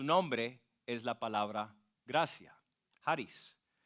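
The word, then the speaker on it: χάρις: La palabra gracia en el idioma original se pronuncia Haris.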